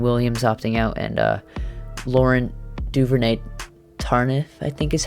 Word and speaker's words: Duvernay-Tardif: Like, they brought back almost the entire team, and they did have some bad opt-outs with Damian Williams opting out and Laurent Duvernay-Tardif, I think is how you say his name.